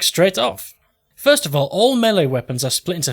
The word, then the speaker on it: melee: And I've decided to pronounce it melee, because I think that's correct.